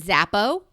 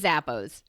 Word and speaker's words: Zappos: i'd like to introduce you to my friend zappo zappo will send it to your house and